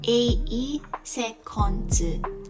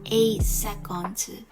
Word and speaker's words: 8 seconds: In the brand 8 seconds, we'll notice that if the letter S is in the end of a word, we'll always pronounce it as Z. 8 seconds, 8 seconds.